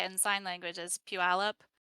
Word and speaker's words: Puyallup: in sign language as puyallup it's like pew like you're holding your nose pu alab oh that's a fun